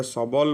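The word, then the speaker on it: subtle: तापरे अच्छी सपल, एटा सबल बोली पढ़ा जाए SUBLE, तो T साइलेंट रोची।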